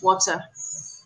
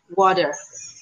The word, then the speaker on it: water: In British, it's water. Right, there's a t sound in it, but Americans say water. Water, like it's water. That's how Americans say it, right?